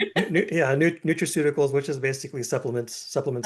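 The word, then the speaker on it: nutraceuticals: Neutriical. Neutricle. I can't say that word. Yeah. Neutrauticals, which is basically supplements, supplement science.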